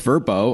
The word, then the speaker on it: VRBO: owners right right okay VRBO which is now pronounced verbo I just had them